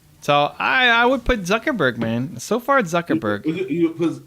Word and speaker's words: Zuckerberg: didn't say it right zurkerberg you're still saying zerkerberg zuckerberg there you go okay okay so zuckerberg but